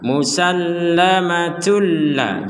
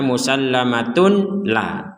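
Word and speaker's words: مُسَلَّمَةٌ لَا: tanwin bertemu lam dimasukkan maka ini juga sama dimasukkan ini Dain masukkan musallamatulla jangan sampai dibaca musallamatun la Tun la itu artinya membaca dengan jelas sekarang dimasukkan tulla tulla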